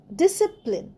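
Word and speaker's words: discipline: পরেরটায় আসি ডি আই এস সি আই পি এল আই এনই ডিসিপ্লিন। ডিসিপ্লিন আমাদের জীবনে খুবই দরকার। ডিসিপ্লিনে দেখো সি উচ্চারণ হচ্ছে না।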